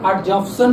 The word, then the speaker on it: adsorption: तो अधिशोषण को एडजॉर्प्शन बोलेंगे और जबकि अवशोषण को एब्जॉर्प्शन बोलेंगे। इस दोनों में बहुत कम अंतर होता है, दोनों के दोनों आप देखिएगा तो मिलता जुलता वर्ड है।